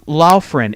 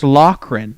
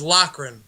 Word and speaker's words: Loughran: last name is not it's not lofrin it's loughran like like uh hold on hold on let me let me clear this up was how it was mispronounced right ever since I was a kid right right so laffy originated but it is locren right just to clear